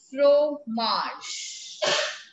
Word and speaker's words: fromage: what what cheese is called cheese is called f-r-o-m-a-g-e fro marsh cheese in french is called fromage now there